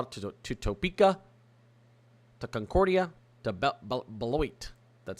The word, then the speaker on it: Beloit: Stretching from basically Wichita to Topeka, to Concordia, to Beloit. That's how you pronounce it.